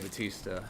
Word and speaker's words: Bautista: I think Dave Bautista has arguably Well, that's the right way to say it.